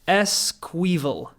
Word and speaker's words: Esquivel: So his second name is pronounced Esquivel. Cool.